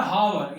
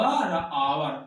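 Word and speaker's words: hour: हावर लिखा हुआ है पर जब इसको उच्चारण करेंगे पसेशन करेंगे ध्वनि निकालेंगे मुख से तो क्या हो जाएगा हमारा आ हो रहा आ व आवर आ से शुरू हो रहा है किससे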